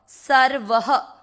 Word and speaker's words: सर्वः: व में अ की मात्रा तो विसर्ग को पढ़ेंगे ह, सर्वह। सर र को नहीं खींच रहे, सर्वह।